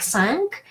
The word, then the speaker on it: cinq: The only exception is when Q is at the end of the word, like cinq, then we don't have a silent U after that Q, and it is pronounced.